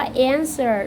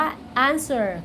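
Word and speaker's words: answer: ภาษา อังกฤษ นะ คะ อ่าน ว่า เอ็น เซอร์ หรือ ว่า อานเซอร์ ก็ ได้ นะ คะ แล้ว แต่ สไตล์ อเมริกัน อิงลิซ หรือ ว่า บริษัท อิลลิช นะ คะ เรา จะ ผสม ปนเป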